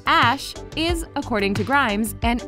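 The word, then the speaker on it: Æ: stands for unknown variables the ae which is pronounced ash is according to grimes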